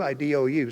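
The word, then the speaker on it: ἰδού: They left out here the Greek word ado, I-D-O-U. See, I didn't spell that one for you.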